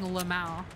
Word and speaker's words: LMAO: By the way, how do you guys pronounce LMAO? Because I think you're kind of like supposed to just like say all the letters like that, but I often just find myself saying Lamau.